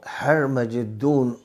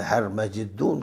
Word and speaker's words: ہرمجدون: جنگ بن جائے گی، وہ ہرمجدون جس کو انگلش میں اورمیگڈون کہتے ہیں اور عربی میں ہرمجدون کہتے ہیں، اور عبرانی کا جو تلفظ ہے ہرمجدو کا، عربی کے تلفظ اس کے قریب ہے، اور میگڈون جو ہے یہ عبرانی اور عربی کے تلفظ سے ذرا دور ہے۔ انگریزی میں اس کا یہ تلفظ بنا دیا گیا ہے، لیکن جیسے ہمارے